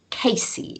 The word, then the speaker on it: Cayce: So we're going to use some famous example charts, and I'm going to start with Edgar Casey is how you pronounce his surname.